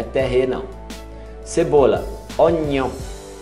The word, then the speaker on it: oignon: Oignon. Oignon. Como se fosse nion.